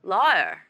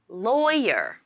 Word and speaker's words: lawyer: he do next my mispronounced the word lawyer she missed the yeah sound in the middle and said liar it should be lawyer lawyer many students often make